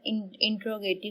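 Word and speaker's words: interrogative: आगे second type of sentences है इंट्रोगेटिव sentences. कई लोग इंटरोगेटिव पढ़ते हैं, कई इंट्रोगेटिव पढ़ते हैं, तो ये सिर्फ प्रोनाउंसिएशन पे बेस करता है।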